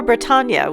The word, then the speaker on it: Bretagne: The donkey marks where we live in Brittany, or Bretagne, which is sort of pronounced like lasagna.